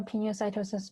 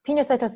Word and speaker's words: pinocytosis: teacher likes the roma pinocytosis by the words pino colada which is a drink if you've ever had it i think it contains alcohol actually you might not have had it you probably haven't but pinocytosis is pina colada i think liquid sources